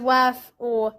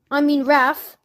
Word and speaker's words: wrath: Now, I don't think that Sister Bear deserved Brother Bear's wrath, wrath. Sorry, I said it with a W, which is how it's spelled, but here's the thing. That's not the way you pronounce it.